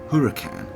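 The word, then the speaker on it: Huracán: the car you were looking at pronounced Huracan replaces the 11-year-old gardo and is according to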